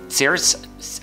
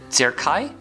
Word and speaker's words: cerci: extensions left and right these are called saris I have a problem pronouncing cerci cerci c ER CI